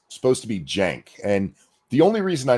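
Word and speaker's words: Cenk: It's technically with a J. Like the Turkish C in that context is a J. Yeah, it's supposed to be Jenk.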